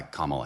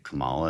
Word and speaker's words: Kamala: a deal could not have been brokered by Kamala Harris. I used to say Camala and then I'd get you know people would say you can't said her name wrong.